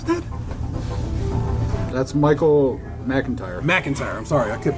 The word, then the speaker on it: Michael McIntyre: Mike Mike Mike and tire how do you pronounce that that's Michael McIntyre McIntyre I'm sorry I kept putting this pronouncements